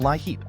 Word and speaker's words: LIHEAP: The Low-Income Home Energy Assistance Program, LIHEAP, pronounced LIHEAP, is a United States federal social services program first established in 1981 and funded annually through congressional appropriations.